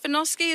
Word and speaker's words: Vinoski: Now, am I saying it right, Vinoski? Is that the right pronunciation?